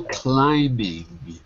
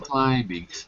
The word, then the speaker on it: climbing: mountain in Europe go climbing go climbing the be silent yeah the be is silent climbing climbing exactly so you can go